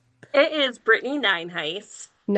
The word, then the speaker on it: Nyenhuis: It is Britney Ninheis.